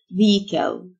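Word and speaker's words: vehicle: جراوند اندر جراوند مركبه فيكل الاتش سايلنت فيك منطقه اريا اريا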